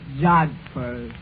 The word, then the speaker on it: jodhpurs: love at first sight that word is pronounced jodhpurs darlin I can see what